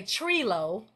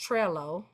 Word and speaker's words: Trello: mind and uh as aun D would say tro but it's actually pronounced Trello Trello you can actually go to sites like